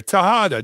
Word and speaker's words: Tejada: Tejada. It's very close. Yeah, Tejada. Much easier. Tejada, just the way it's spelled.